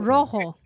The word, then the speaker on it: rojo: Rojo. Rioja. Rojo. Does that just mean red? Yes. Mm. Oh. Rojo. Campo Viejo Rojo. And you have to roll your R.